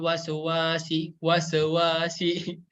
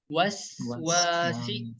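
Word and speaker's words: الْوَسْوَاسِ: Ketika kita membaca huruf sin biasanya kesalahan yang sering terjadi yaitu dipantulin ya. Enak banget gitu ya bacanya ya. Min syarril waswasi. Nah, ini kurang tepat ya. Jadi huruf sin ini cara membacanya huruf sin yang berharokat sukun harus dialirin ya. Harus dialirin karena memiliki sifat rokhawah ya. Waswasi bukan wasewasi. Nah, itu kurang tepat ya. Yang benar itu adalah waswasi.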